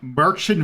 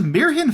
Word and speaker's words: Märchen: this is in uh you might say oh I am playing merchin Veil that is not how you pronounce that uh this is in fact a German name which is intering for a Japanese developed game uh this is mirin file uh mirin I believe being fairy tale in German uh and